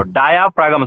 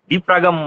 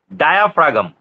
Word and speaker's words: diaphragm: सर डिफाग्राम मतलब वो डायाफ्रागम, ठीक से बोलो, डायाफ्रागम, स्पेलिंग भी ठीक रह जाएगा मेरा टेक्निक से चलोगे तो। डिफ्रागम मत बोलो, डायाफ्रागम हुआ, बोलो। यस सर, डायफ्रागम। यस सर, डायाफ्रागम, DIA फ्रा PHRA गम, GM गम, डायाफ्रागम, ठीक है।